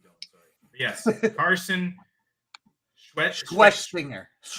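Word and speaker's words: Schwesinger: But yes, Carson Schwessinger. Schwe, like sweaty balls. Schwessinger.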